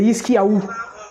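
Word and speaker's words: חזקיהו: Donc le roi, pour prononcer en hébreu, c'est Hiskiaou.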